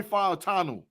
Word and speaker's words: Fautanu: Now listen, so Tate, my next guy is Troy Fautanu.